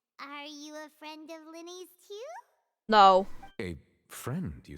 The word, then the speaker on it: Lyney: Ah, Mr. Lyney. I should say Lyney.